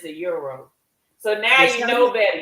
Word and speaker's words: gyro: The correct term is a euro. Yes, a euro. The G is silent.